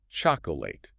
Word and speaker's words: chocolate: Kids especially love the 3-syllable version. Chocolate, giving each part equal time. They really draw it out, don't they? But the adult, efficient, correct way, only 2 syllables. 2. Wow. Yeah. It's you completely cut out that second aura sound, like chocolate. Chocolate.